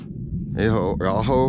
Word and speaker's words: Ajo: Aho, I think it's Aho, it's pronounced.